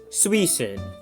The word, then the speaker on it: Suicune: And by the way, I know it's Suicune, I just wanted to see if I could get someone to comment about that pronunciation.